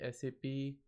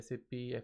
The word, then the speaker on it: SAP: co-financed and controlling so the proper way of pronouncing the name of sa p is sa p is not accept if you say sap is notice and appropriate labid says as ap is much more more accepted and more being used